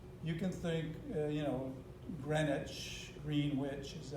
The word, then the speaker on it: Greenwich: use green because it's called green witch no it's not greenwich is how it's said it looks like sandwich greenwich uh i think